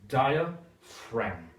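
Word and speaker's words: diaphragm: okay the word is dial fram d-i-a-p-h-r-a-g-m okay it's a strange word because in this word we come across ph which is pronounced f and gm where you don't pronounce the g so it's a little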